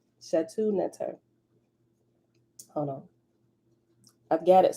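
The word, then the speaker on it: Shetaut Neter: They call this spiritual system Shatu Neter. Shatu Neter. And they spell it, the first Shatu Neter is SHTAUT, then it's space NTR. And in parentheses, it spell it out with vowels. SHETAUTNETER. They call it the spiritual system Shatu Neter, right? Shatu means secret. Neter means divinity, secret divinity.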